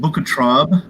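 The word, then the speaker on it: Bukettraube: up here on the screen cedarburg and it's pronounced booker tribe and it's a very rare very small batch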